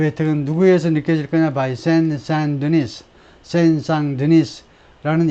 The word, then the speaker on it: Saint-Denis: 프랑스어는 마지막 장을 발음하지 않습니다. Saint-Denis.